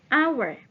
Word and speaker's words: hour: Sebaliknya, contoh yang lain lagi, hour.